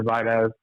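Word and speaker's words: Biadasz: I think they should take either Dye like Zach was saying, or fill that center role with Tyler Vidaz.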